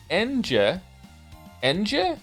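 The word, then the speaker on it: Ange: time all time now Angie favorite character of all time really I'm here to tell you her name is pronounced en Ena feel free to ignore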